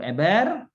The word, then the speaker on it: Eber: usianya 30 tahun hai lalu eber ya Jangan sampai keliru bacanya bukan embernya 4000 ember-ember ya akhir-akhir